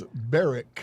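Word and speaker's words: Beirich: I looked it up last night. It is Bareric.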